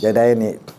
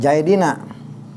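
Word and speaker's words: زيدين: Ini jaidaini dipatahkan sebelum ya, dikasrohkan sesudah iya. Ini jaidina dikasrohkan sebelum ya, dipatahkan sesudah iya gitu.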